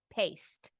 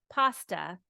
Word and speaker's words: paste: They're looking for a certain type of tomato paste, but they pronounce it pasta, and then I think that they want this. So please understand, this is pasta, and this is paste. Paste is how you say this.